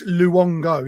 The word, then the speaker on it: Luongo: It's Luongo, yeah.